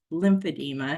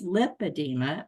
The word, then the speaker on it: lipedema: you're saying it wrong I kept saying I believe I have lip adeema and I want to get a pump and um and she says well you're saying it wrong and she just kept pressing me that it was lymphadema and I said no it's lipedema I know I have